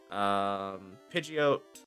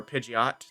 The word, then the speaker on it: Pidgeot: We're gonna get a Pidgey, Pidgeot, or Pidgeot, depending on how you pronounce it.